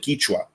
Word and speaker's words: Quichua: I mean, the Quechua spoken in the northern part, like in Ecuador, they pronounce it Quichua, but it's the same language, yeah.